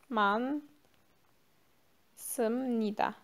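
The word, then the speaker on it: 많습니다: Bu da okunurken H okunmuyor. Yine master ekini atıyoruz. Man Sımnida. Çoktur derken mansımnida diyoruz.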